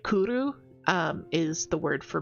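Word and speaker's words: cwrw: What I like about Welsh is that the W is most often a W. Like it's a double U sound. Like it it makes the oo.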